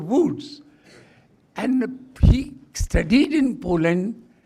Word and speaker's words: Łódź: L-O-D-Z it is pronounced, but it is University of Łódź.